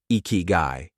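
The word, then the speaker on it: ikigai: In Japan, this powerful idea is called ikiguai, pronounced ikyu.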